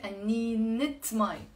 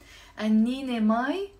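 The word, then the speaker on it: قنينة: But if I want to say a bottle of water, I say anninet mai. Annine mai, غلط. Okay? Anninet mai. You have to pronounce the te marbuta.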